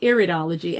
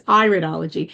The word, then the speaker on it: iridology: I was calling iridology and it's iridology.